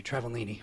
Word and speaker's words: Travaglini: Travaglini. How you doing? You pronounced it pretty well. It's actually a silent G, Travellini.